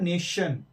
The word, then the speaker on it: nation: और एक और बात, जब TION हो किसी वर्ड के एंडिंग में, तब भी उसका साउंड श, ये वाला आता है, श, श, श आता है। तो अब हम एग्जांपल देते हैं, जैसे कि NATION, तो ये कि यहां पर एंड में आ रहा है TION, तो ये हो गया, ये नेशन नहीं है, ये है नेशन, नेशन, नेशन। Okay, नेशन।